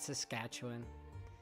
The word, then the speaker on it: Saskatchewan: He said Saskatchewan.